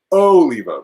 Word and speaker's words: Oliva: be able to say yostremski so um tony oliva oh leva there we go um but yeah this is